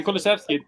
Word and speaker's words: Kulusevski: Yeah, Kulusevski. Have I pronounced that right?